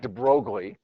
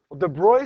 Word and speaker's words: de Broglie: Looks like Deb Brogley. Call it Deb Brogley if you want. It's easier to kind of remember that way, but his name is actually pronounced De Bruy, a French guy.